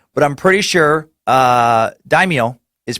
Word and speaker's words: daimyo: you said it is the proper pronunciation of daimyo is like so daimyo like yo yo what's up homie everything else